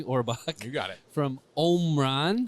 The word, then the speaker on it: Omron: From Omron. Correct. Sometimes pronounced Omron depending on where you're from. Correct. Yeah. Or Omran if you don't have a Michigan an accent.